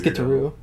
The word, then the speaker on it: Gitaroo: Is that actually how you say it? Yeah, it is Gitaroo.